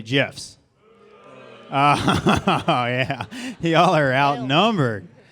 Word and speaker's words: GIF: How many of you all think we should say gifts with a hard G? Yeah? Okay. How many think we should follow the creator of gifts and say it with a soft G and say GIFs?